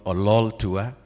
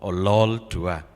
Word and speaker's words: Ololtua: We'd like to thank in absentia our CS, Rebecca Miano, and PS, John Ololtua. That's how you pronounce his name. The next time you see him, make sure you pull the lol, Ololtua.